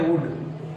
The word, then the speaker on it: would: इसी तरह से हमारा वर्ड होता है वुड, WOULD।